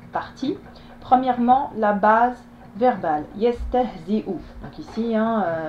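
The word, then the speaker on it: يستهزئ: Yastahzi'u. Donc ici, le support de la hamza est là et ne se prononce pas. Ce qui se prononce, c'est la hamza, donc la dhamma, c'est-à-dire le son ou.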